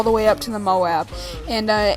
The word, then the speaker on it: MOAB: M Moab gameplay Moab mob whatever all these people call it I prefer to call it the Moab and I feel that's how it is pronounced properly but by the way